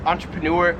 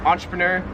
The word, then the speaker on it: entrepreneur: 43 is entrepreneur, so I've always pronounced this entrepreneur. In Australia, they pronounce this entrepreneur, so like entrepreneur.